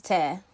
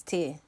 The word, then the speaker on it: tear: you're trying to say so if you were to rip something it's tear and if you were crying it's tear oh I say tear